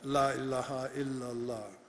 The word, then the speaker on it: La ilaha illallah: The 7 syllables of the Shahada, La ilaha illallah. It's La ilaha illallah.